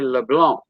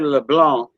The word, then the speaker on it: LeBlanc: We don't call him Dudley LeBlanc. Like LeBlanc, the C is silent in LeBlanc.